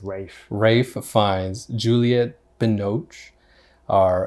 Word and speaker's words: Ralph: spelled like Ralph, but it's Rafe.